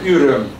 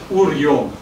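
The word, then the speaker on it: Üröm: Значит, и там нашли, недалеко от Буды, эту деревня, то, что по-русски произносить очень трудно, Урем по-венгерски, а Урьем, да, потому что нет Ю и нет Ю, да, в русском.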